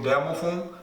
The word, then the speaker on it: demophon: A prepona também florestal, prepona demophon, na verdade a pronúncia seria o demophon, prepona demophon.